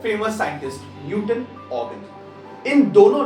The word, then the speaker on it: Huygens: Okay, अभी ये थोड़ा सा ना प्रोनाउंस करने के लिए लोग कुछ भी बोलते हैं, यूजीन, हाइगेन, यूगेन, हाइगेन, हाइगेन, कुछ भी बोलते हैं. इट इज ऑगन.